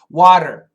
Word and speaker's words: water: Water, water, water. It's a flap T, flap T.